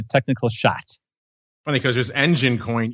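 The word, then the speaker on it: Enjin: fundamental just a technical shot funny because there's engine coin e NJ i n then there's engine like you would spell it and there's engine coin that is eg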